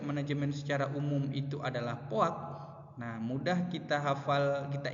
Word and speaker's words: POAC: Nah, ataupun kita di keilmuan ee manajemen itu sering bacanya itu adalah poak.